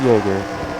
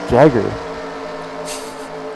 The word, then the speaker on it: Jagger: I'm pronouncing Jaeger correctly. It's not Jaeger. Jagger.